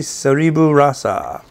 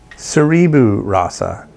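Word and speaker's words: Seribu Rasa: recipe bee hoon curry sorry boo raza from Malaysia or Sarah boo Raza no wait seribu Raza yeah and I was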